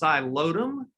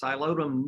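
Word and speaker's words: Psilotum: in Texas it's called a whisk fern it's pronounced xylodum that's a silent piece xylodum noodle and I wanted to mention its scientific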